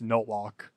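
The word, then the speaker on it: Nolok: In fact, if you're wondering where NLK's name came from, it's from the main enemy of the game Super Tux, Notlock. Is spelled N-O-L-O-K.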